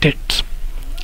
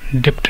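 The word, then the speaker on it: debts: Option A taxes, option B monetary policy, C check bonds, option D डेट्स। हाँ, इसे डेट्स ही पढ़ा जाता है। ओके, ये बी साइलेंट रहता है, डेप्ट नहीं पढ़ा जाता।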